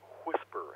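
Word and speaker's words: WSPR: system for doing this cold whisper and I believe it's spelled funny I believe it's WI SPR the whisper people are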